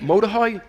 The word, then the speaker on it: Mordechai: Mordechai?